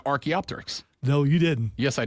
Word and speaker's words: Archaeopteryx: So who pronounced it right? We both said Archaeopteryx.